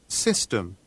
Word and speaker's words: system: System. 그렇죠. system. 우리는 시스템 이렇게 발음하는데 system 이렇게 발음이 되죠.